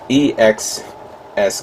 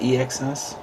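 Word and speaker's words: EX-S: is of course the uh gundam artifacts ex e x s gundam is it pronounced e-x-s e-x-s gundam yes that's what was right um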